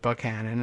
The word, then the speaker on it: Buchanan: Tyler Buchanan, I guess, unless he pronounces it Buchanan, as some people do, like we do here in Virginia for some reason, writing